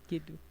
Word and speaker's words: Kituu: You should teach me how to pronounce Kituu. Kituu.